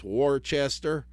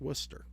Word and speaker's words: Worcester: That and if you ever see how Worcester is spelled if you're not in Massachusetts, you're going to go and call it how far is Warchester. I don't know, but it's called Worcester.